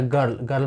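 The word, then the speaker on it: girl: पे देख रहे हो की जी के बाद आई है तो हम जी का उच्चारण जी करेंगे तो जी आई आर एल से हो गया गर्ल मतलब लड़की अब यहां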